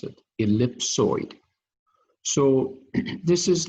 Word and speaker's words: ellipsoid: so the first quadrant what surface is called ellipsoid that's how you pronounce it ellipsoid so this is like so it means like